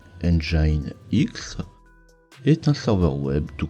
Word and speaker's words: nginx: angie a nyx.n jnx qu'on va prononcer engine x est un serveur web